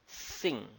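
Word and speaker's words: 辛: The minerals, which is the other part of matter, is pronounced as Xing.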